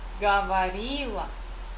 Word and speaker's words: говорила: Atenção aqui, escrevo o говорила. Acento está nesse i, mas pronunciei esse o como a, говорила, оно говорила.